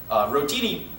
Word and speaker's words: rotini: The lunch special for today will be American chop suey, rotini... Is that how you pronounce it, though?